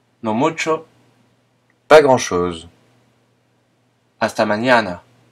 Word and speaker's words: mañana: Hasta mañana. À demain. Le N se prononce mieux comme dans le nom montagne en français.